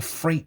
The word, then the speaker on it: freight: so as you see the ght is silent well the gh is sounding freight and that trip step